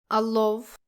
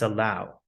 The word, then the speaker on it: allow: say it like allow It's allow. Allow. Allow rhymes with now and how. It doesn't rhyme with no and bro.